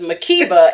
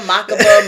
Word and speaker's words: Makeba: Y'all know my full name is Makeba, and when I tell you I get a Makeba, Makaba, Makuba, Mukba, I've had every wrong variation of my